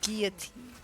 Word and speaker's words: guillotine: You do not pronounce the L in that word. It is a guillotine.